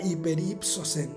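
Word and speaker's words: ὑπερύψωσεν: utilizó una palabra que se pronuncia hiperiposen, que básicamente lo que quiere decir es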